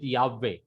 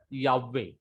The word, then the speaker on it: Yahweh: So this Yah is connected with Yahweh because there is a makib in He. That means you have to give the consonantal value to the He. So the pronunciation is Yah, Yah, Yahweh, Yah, Yahweh.